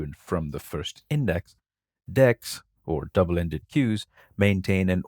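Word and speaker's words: deque: let's now move on to the double-ended Q pronounced deck it's an ordered collection similar to a list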